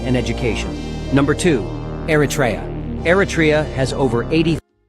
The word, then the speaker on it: Eritrea: Eratria has over 80. Eratraa. Thank you for the proper pronunciation.